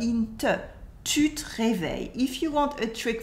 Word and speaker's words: réveilles: Here the S at the end of réveil is silent. It is the mark of the second person of the singular.